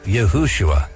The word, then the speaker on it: Yahushua: had never changed anything you'd pronounce Jesus's name as yahushua why were these mysterious